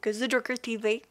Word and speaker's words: Zejockertv: Non, ça s'écrit vraiment The Joker. Il n'y a pas de... Non, c'est vraiment pour le prononcer à la française. Donc, The Joker TV.